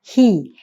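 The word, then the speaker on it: הִיא: Nah, ini kan kalau tanpa ada nikut itu bisa dibaca hu. Maka atas pertimbangan dari para ahli masora ini kemudian diberikan titik khirik di sini supaya kita membacanya hi.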